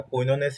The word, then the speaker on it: quinone: নামটা কইননেস হিসেবে উচ্চারণ করলেও আমরা বায়োকেমিস্ট্রিতে এই বানানটিকে কুইনন হিসেবে উচ্চারণ করি।